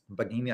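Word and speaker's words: Baggini: Bagini, I think, is how you pronounce his last name.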